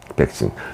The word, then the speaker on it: 백신: 백신. 왁진이라고 부르는 사람들도 있는데요. 왁진이라고. 그렇게 계셨는데요. 그거는 이제 틀린 발음입니다.